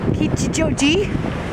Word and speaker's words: Kichijoji: Kichijoji, learned how to pronounce it, which is useful.